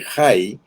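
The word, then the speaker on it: Hai: La palabra ruina, por ejemplo, que en otro lugar se traduce Jai, se recuerda de Jai, ¿verdad? H-A-I, que era ruinas. Se escribe de una manera semejante, pero es la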